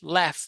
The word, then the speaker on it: laugh: If cliff, laugh, loaf, laugh. Yeah, laugh has g, but the sound is F.